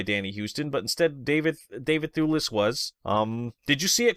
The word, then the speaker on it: Thewlis: So David Thewlis, and I believe that's how you say it, Thewlis as Ares.